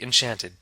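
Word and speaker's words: enchanté: their name in French you can simply say ante Ashante it sounds like Enchanted doesn't it it is but it's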